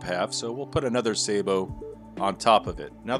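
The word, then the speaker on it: sabot: what we call a sabo i know it's got other pronunciations but we call it a sabo and now we have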